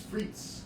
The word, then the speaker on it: frites: tried that with sweet potato fries um are frights or fruits a fancy way of saying fries and how is it pronounced it's freeze it's green it's french but actually belgium takes